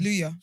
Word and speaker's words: Kaluuya: Kaluuya.